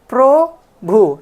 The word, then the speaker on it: প্রভু: তো কিভাবে উচ্চারণ করি প্রভু সো এই যে পর র ফলার সাথে একটা বাড়তি ওকার আসতেছে তারপরে ভ রসুকার আসতেছে